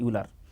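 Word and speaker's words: Euler: OLR भी बोलता है कुछ लोगों ने प्रोनाउंसिएशन, अगर OLR इक्वेशन, OLR यूलर।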